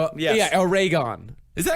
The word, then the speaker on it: Oregon: It's like Oregon. a ray gun? Yes. Yeah, Oregon.